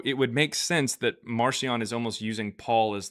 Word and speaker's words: Marcion: So it would make sense that Marcion is almost using Paul as like his pseudonym, if you will, which kind of makes sense. Marcion means, or it literally called Markion, or pronounced Markion back then.